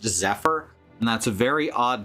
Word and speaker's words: Zephyr: person named as a fear here except it's pronounced Zephyr and that's a very odd to me since